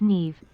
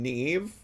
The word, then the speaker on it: Nev: Bestie, Nev is pronounced Neeve. Am I saying his name wrong? I'm so sorry. I haven't watched an episode of Catfish in a long time. Neeve, my apologies for pronouncing it incorrectly.